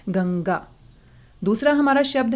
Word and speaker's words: गंगा: जब हम गंगा को बोलते हैं, गंगा शब्द का उच्चारण करते हैं, तो अपना पूरा ध्यान आप इसके उच्चारण पर लगाइए। आप पाएंगे जो बिंदु है, जो अनुस्वार है, उसकी आवाज हम नाक से निकाल रहे हैं, गंगा।